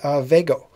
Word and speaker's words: Vvego: And this one, Robert over at Vago. And he's got two V's in the pronunciation of it.